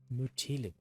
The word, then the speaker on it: Mytilene: Mytilene. Okay, that's how you pronounce it.